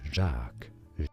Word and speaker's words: Jacques: You could say it as Jacques.